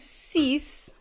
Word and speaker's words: six: sank sink six is cease kind of like cease and like to cease and desist seven is set and